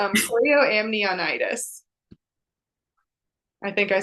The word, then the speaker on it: chorioamnionitis: It's chorioamnionitis.